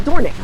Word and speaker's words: Dornoch: yes I do I need it D It's pronounced dornic roal dorick is a uh special golf course in Scotland